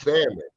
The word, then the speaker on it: salmon: It's spelled salmon, like salmon, but it's pronounced salmon without the L.